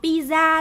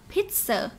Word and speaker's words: pizza: Cái từ này chúng ta không đọc là pizza đâu nhá, mà từ này chúng ta phải đọc là pizza, pizza, okay?